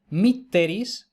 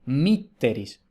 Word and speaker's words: mitteris: Entonces, según eso, si la penúltima es breve, el acento se retrotrae a la sílaba anterior. Por eso, mitteris. En cambio, si la E, en este ejemplo, si la E es larga, el acento recae en esa sílaba, mitteris.